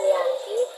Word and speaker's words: Giyanti: yaitu di desa Janti dalam pelafalan Belanda ia disebut dengan Yanti namun secara tertulis ia dibaca dengan Giyanti hingga sekarang tempat tersebut